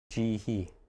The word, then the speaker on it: 지희: So I would not pronounce 휘, No. it just becomes he. 네. He. 음. Okay. 뭐 이렇게 이렇게 있으면 first name 지희.